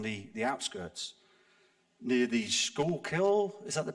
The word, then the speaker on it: Schuylkill: which is on the the outskirts near the Schuylkill is that the pronounced great pronunciation thank you the lady who